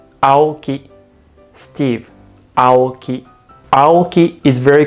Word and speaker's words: Aoki: In Japanese, A is pronounced as A sound. For example, Steve Aoki. In Japanese, we say Steve Aoki.